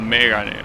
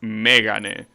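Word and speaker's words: Mégane: It even has the accent in the first E. So you know that it's pronounced Megane and not Megane, right? Because yeah, that's how you pronounce the Japanese word. It's Megane. That's the pitch accent you need.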